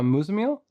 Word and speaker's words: Muzammil: how do you say your name it's uh mozamel yeah yep that was pretty good yeah awesome